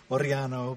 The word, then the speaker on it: Orellano: me uh orano is a Spanish name it's not Italian it's actually orano but nobody pronounces it correctly so I just say orano I never knew that